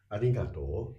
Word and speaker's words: arigato: If your toe is not long enough, it would sound like foreigners Japanese. Oh. If you say arigato, Okay. it's a perfectly understandable, Uh-huh. but it sounds Not natural. Not as a native speaker.